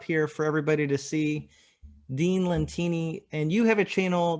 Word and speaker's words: Dean Lentini: His name is Dean Lentini. Do I have your name right? Did You I nailed pronounce it, it right?